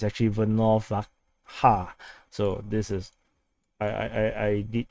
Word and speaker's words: Volnovakha: So actually it's not pronounced as Volnovakha, Volnovakha, but it's actually Volnovakha.